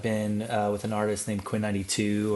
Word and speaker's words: Quinn XCII: For the last like 5 or so years, I've been with an artist named Quinn 92 or Quinn XCII is how you spell it.